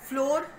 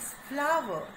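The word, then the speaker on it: flour: तो हाँ, हम आटे को फ्लोर, आप फ्लोर मिल्स बोलते हैं. लाइक मैं भी जब फ्लोर मिल्स ही बोलती थी, लेकिन मुझे फिर पता चला कि नहीं, जो राइट प्रोनाउंसिएशन है दैट इज फ्लावर.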